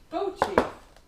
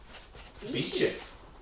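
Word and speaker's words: Beauchief: How are you going to pronounce this then? She's getting nervous. Bo Chief.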